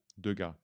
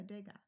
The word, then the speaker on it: Degas: Degas. No, Degas. Yeah. Good. You don't pronounce the S anyway.